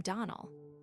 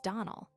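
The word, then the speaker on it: Donnell: ClariS Almira told me that you pronounced our name Donald. Now, Miss Shirley, the correct pronunciation of our name is Donald. Accent on the last syllable.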